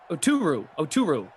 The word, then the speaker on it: Oturu: Oturu.